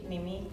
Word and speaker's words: nimi: nimi.